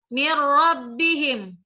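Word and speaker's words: مِّن رَّبِّهِمْ: Cara bacanya mir rabbihim. Mir rabbihim. Perhatikan, tidak dengung kan? Mir rabbihim. Beda dengan min waraihim, dengung.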